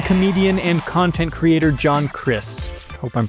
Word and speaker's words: Crist: This is Christian comedian and content creator John Chris. I hope I'm pronouncing that right. There's no other way to pronounce that other than Christ. And that would be weird.